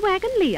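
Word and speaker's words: Wagons-Lits: dear this is the wagon lee office why it's spelt wagon lips i know it's spelt lit but over here they pronounce it lee oh i begin to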